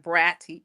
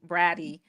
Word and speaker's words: Braddy: say it's it's bratty with two D's but pronounce it like bratty bratty the bratty little think of bratty kiddy little kid.